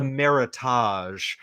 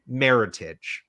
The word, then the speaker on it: Meritage: and they go oh i'll have the meritage when it's really pronounced meritage right and uh disham